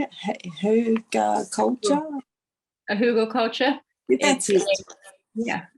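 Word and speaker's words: Hügelkultur: how you say it who got culture a Hugo culture yeah it's a um it's a type of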